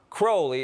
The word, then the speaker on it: Crowley: Crowley in his own writings he said it's pronounced Crowley it runes with Holy One Day in Cairo